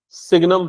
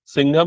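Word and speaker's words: signum: चलो, सिग्नम function. सिग्नम, सिंघम नहीं, सिग्नम।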